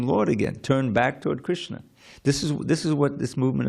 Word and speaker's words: Krishna: So the word Krishna is 2 syllables.